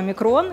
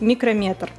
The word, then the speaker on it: микрометр: И вообще, начнем с того, что слово «микрон» говорить неправильно. Правильно говорить «микрометр».